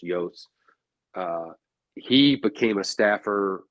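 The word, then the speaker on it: Iooss: and finish out Walter Yos Jr uh which his last name is spelled i o o SS but it's pronounced Yos uh he became a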